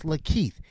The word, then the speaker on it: LaKeith: here second of all it's lakeith take the la off and that's keith y'all can't read you